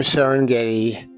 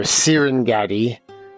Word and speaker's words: Serengeti: Now admittedly the term Serengeti or Serenetti uh Serengeti I guess is how you pronounce it properly in Swahili uh extends way beyond Serengeti National Park.